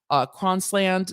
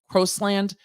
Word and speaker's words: Crosland: According to Darnell Cronsland, the attorney, I hope I pronounced that right. There's no N there. I said Cron. It's Crosland.